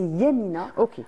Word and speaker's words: Yamina: juste comme ça fait c'est pas Mina mais c'est Yamina alors nous avec le quotidien on on l'ppelle Yamina on a tendance à à enlever la première syllabe et c'est alors Yamina